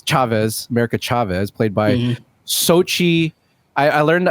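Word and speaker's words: Xochitl: about america chavez chavez america chavez played by sochi i i learned how to pronounce this yesterday gomez yeah what what a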